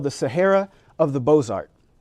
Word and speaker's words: Beaux-Arts: The title of the article was Sahara of the Beaux-Arts, B-O-Z-A-R-T. He is literally making a pun about how an uneducated Southerner would mispronounce this fine art term.